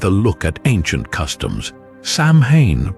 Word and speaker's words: Samhain: look at ancient Customs Sam Haye pronounced so in was a festival marking